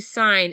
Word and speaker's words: sign: the the verb to sign s i g n the g is silent but when we say